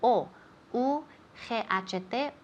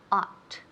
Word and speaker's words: ought: Remember, la familia de palabras con O, U, G-H-T, or A, U, G-H-T, tienen la misma pronunciación. Ought. Ought. Como si fuera solo O-T.